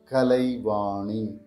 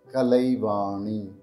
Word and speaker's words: Kalaivani: this is how we pronounce the name Kalani Kalani repeating it slowly now kalai presenting the